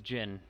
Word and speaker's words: Jin: older brother to me his name is jin he's he's like the